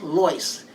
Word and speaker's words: Lois: next one is lois my mother never said lois they always pronounced her name as loice as an llyce but it's just easier